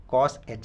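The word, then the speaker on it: cosh: हुए सिंपल क्या इसे रीड कर रहा हूँ, कॉस एच एक्स, ठीक है।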